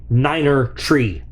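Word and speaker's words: niner three: Okay, so for those of you unfamiliar, Battlebox, Mission Niner 3 in proper military radio pronunciation, that would be Niner Tree.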